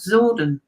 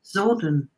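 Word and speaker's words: Psordon: himself he calls himself zordon sort of okay he doesn't spell it like it sounds it's it it's kind of spelled with silent p so it's p-s-o-r-d-o-n zordan all right okay i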